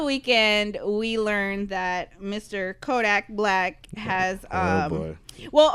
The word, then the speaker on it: Kodak Black: Is it Kodak or Kodiak? It's Kodak. It's Kodak Black.